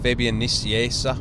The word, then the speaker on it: Fabian Nicieza: then so after visionary's I hooked up with Fabian Nicieza which is the correct pronunciation is that name and we did new